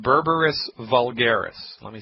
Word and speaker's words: Berberis: a Botanical medicine in herbal tincture it's called berberis vulgaris let me spell that for you it's be like baby e